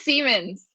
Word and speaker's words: Semans: It it is Semans.